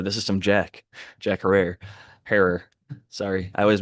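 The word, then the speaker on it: Jack Herer: is some Jack Jack her. Sorry, I always mispronounce it. They say her like terror, but it's a lot of people call it herrer incorrectly and I always get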